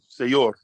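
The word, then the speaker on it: sayur: say yours say you're s is soft we have a soft letter it automatically makes the bowel next to it um stuff you can pronounce a y i or a depending on what letter comes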